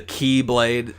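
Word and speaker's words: χ-blade: He's trying to form the Keyblade. It has an X with a blade, but it's pronounced Keyblade.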